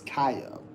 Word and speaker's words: Kaio: You forget to pronounce the O in Kaio. Well, just because I'm not for sure how to pronounce it, so it's Kaio. Sorry. Kaio.